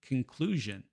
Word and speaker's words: conclusion: After the U vowel, as in conclusion.